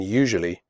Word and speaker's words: usually: The first U in usually is pronounced like the word you. The S is pronounced like je in television.